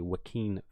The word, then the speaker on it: Joaquin: Joaquin Phoenix yeah yeah I was pronouncing his name wrong it's actually Joaquin Phoenix Phoenix good like good